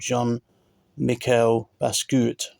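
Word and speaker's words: Jean-Michel Basquiat: see this but there's an artist there called John Mikel basut that's how you say it these jackets go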